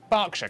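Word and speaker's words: Berkshire: silent norch Beric subk e r is pronounced R barkshire Clarken hartfordshire but before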